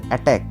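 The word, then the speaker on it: attack: হওয়া বা বিস্মিত হওয়া নেক্সট ওয়ার্ড আছে আমাদের অ্যাটাক এ টি টি এ সি কে এখানে সি সাইলেন্ট এবং এখানে আমরা এর অর্থ আমরা কি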